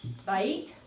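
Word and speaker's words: בית: 7, Bait, there is your diphthong. That would not be 2 syllables.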